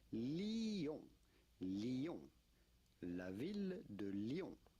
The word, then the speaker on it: Lyon: It's not Lyon, and it's not Lyon either. It's simply Lyon. Lyon. La ville de Lyon. La ville Lyon. de Lyon. The city of Lyon.